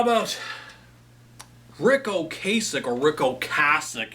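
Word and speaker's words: Ocasek: How about Rick Oasich or Rick Oasich? You got to say it properly. Rick Oasic. I'm so used to saying Okasich. But I got to remember to say Oasic.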